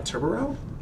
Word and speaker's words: Tubarão: Uh we are going to see Vigil, Kaid, Clash, uh Tubarão? How do you pronounce that? Tubarão.